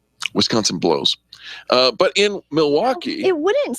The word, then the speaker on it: Milwaukee: this let's move on there are three syllables in the word Milwaukee and uh in Milwaukee Wisconsin